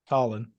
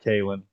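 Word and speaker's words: Khalen: name again Caitlyn Saunders Colin it's not it's Colin it's not Kalyn whatever it's that specifically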